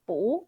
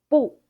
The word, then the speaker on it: 不: The answer is second tone 不 instead of fourth tone 不. This is due to the 不 character tonal modification.